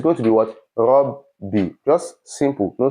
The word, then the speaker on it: Rabbi: So for this Rabbi, this is what is actually there. Ra, ba, and ba. Ba with sukun and ba with kasra. Rabbi.